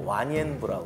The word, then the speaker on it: 완안부: 저 변방에 있던 완안부. 그쪽 발음으로는 이제 완옌부라고 그러는데. 완옌부.